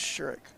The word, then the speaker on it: Sherrick: It's Sherrick.